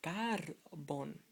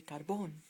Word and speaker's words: carbón: Knowing this rule, you would say carbon, but you want to say carbon, so you need an accent to let you know that it's the accentuation is here, not here.